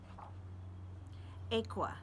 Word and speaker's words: Ekua: pronounce their names and I practice her name still messing it up I'm gonna keep trying aqua that's it aqua Holmes alright the